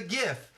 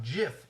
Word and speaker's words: GIF: the creator of the gift the guy that created gifts came out and said it's pronounced gif with a hard G not jiff like the peanut butter and the reason is